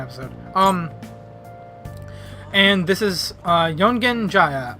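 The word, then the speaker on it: Yongen-Jaya: And this is, Yongen Jaya. I keep saying Jaga because I keep being an idiot and thinking that Y is a J. It's not, it's Jaya.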